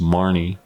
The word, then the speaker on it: Mahoney: And I'm happy for our mate Henry Mahoney, or it's pronounced Marnie, at Terrace.